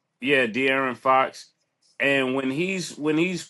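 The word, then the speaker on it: De'Aaron Fox: It's contagious to It looked like um um Aaron Fox. Dear, how do you say his name? Yeah, De'aran Fox.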